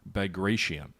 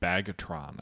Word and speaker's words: Bagration: during World War II, during Operation Bagration, or as many of you found amusing in my last video, the way I pronounced it was Bagatron, I believe it was.